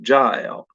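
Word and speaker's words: Jael: name pronounced jail like rhymes with j-a-i-l or rhymes with gayle g g-a-i-l or i've heard her name pronounced ja l so uh i'm going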